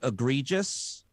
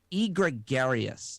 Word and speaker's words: egregious: york times and and i pronounced the word egregious i pronounced it e gregarious that's what i said